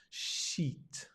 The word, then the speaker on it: sheet: sheet music looks like sheet not I but e make sure you smile otherwise it's something else it's music you don't